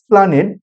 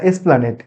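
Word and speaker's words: Esplanade: এমন ধরুন বাংলাতে খুব সহজেই এসপ্লানেড সপ্লানেড মূল উচ্চারণটা প্লানেট না এসপ্লানেট এসপ্লানেট। কিন্তু কোথাটা ভ্রান্তিবসত অনেকে এসপ্লানেটের এটাকে আদি বর্ণাগম ভেবে তাকে এটাকে বাদ দিয়ে আমরা প্লানেট বলি। ভুল হয়। প্লানেটটা ভুল। এসপ্লানেটটা ঠিক।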